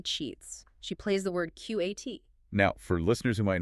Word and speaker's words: qat: She plays the word QAT. Now, for listeners who might not know, QAT is a real word. It's a chewable leaf, usually pronounced cat, but it's very obscure.